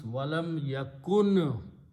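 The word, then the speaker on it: وَلَمْ يَكُن: So what we do, we drop the sound of the waw altogether, including the waw. So it becomes walam yakun.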